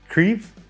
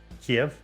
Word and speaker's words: Kyiv: So, Kyiv is how it's pronounced, supposedly. Kiev is how a lot of people pronounce it, but Kyiv is the